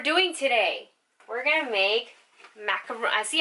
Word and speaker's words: macaron: We're gonna make macaron. See, I call them macaroons, but they're technically macaron. Macaron.